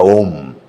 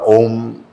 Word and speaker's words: om: o en voz alta la palabra om recitada largo, así om. M bueno, se hace un poquito más largo, pero en efecto esa